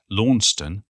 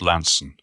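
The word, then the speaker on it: Launceston: to come from lansen lansen the town that rhymes or very nearly with handsome i'm not sure when people began to pronounce it launston like they do in tasmania but for me it's always been pronounced lanson and i'd no more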